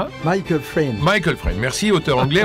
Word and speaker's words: Michael Frayn: La pièce de Michael Frayn, on prononce comme ça ? Michael Frayn.